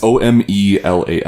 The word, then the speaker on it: Omelas: It's Omelas.